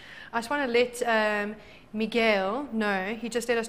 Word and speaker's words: Miguel: I just want to let Miguel know. He just let us know that we said his name wrong. It's Miguel and not Michael.